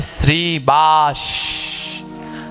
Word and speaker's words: শ্রীবাস: শ্রীবাস হবে না শ্রীনিবাস হবে? আমি অনেকজনকে দেখেছি 100 জনের ভিতরে প্রায় 60 জন উচ্চারণে ভুল করে। ওখানে হবে শ্রীবাস।